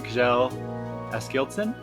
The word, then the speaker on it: Kjell Askildsen: Before by, again, I don't know how to pronounce the name, Kjell Askildsen?